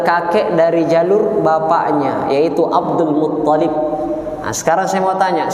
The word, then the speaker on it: Abdul Muttalib: Abdul Muttalib. Karena kadang ada yang menyebut Abdul Muttalib. Abdul Muttalib, yang betul adalah Abdul Muttalib, ta-nya yang bertasydid, bukan lamnya. Ya.